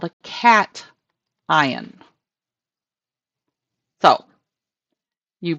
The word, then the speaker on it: cation: And this thing is called a cation. So you pronounce this, that first, then this. So cation is how that's pronounced.